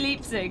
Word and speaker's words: Leipzig: Wait, what did we not pronounce? Oh! Like, instead. Leipzig! It's Yeah, definitely Leipzig.